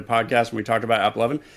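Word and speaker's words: AppLovin: We had a podcast when we talked about App Lovin'. It comes out as Apple Oven, my favorite.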